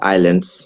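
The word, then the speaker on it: islands: আসেন এটা হচ্ছে একটা আইল্যান্ডস that means আইল্যান্ডস আইল্যান্ডস এস টা উচ্চারণিত হবে না এখানে এস উচ্চারিত হবে না ঠিক আছে তাহলে আমরা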